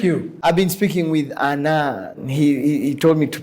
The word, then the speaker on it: Anand: I've been speaking with Anand. He told me to pronounce it that way, who is a